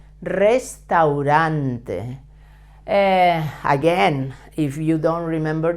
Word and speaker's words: Restaurante: El restaurant notice that the first R should be pronounced as a Double R strong sound because it's at the beginning of the word and all Spanish are